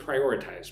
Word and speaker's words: prioritize: Look at the word prioritize. Prioritize. Four syllables. The emphasis on the second syllable.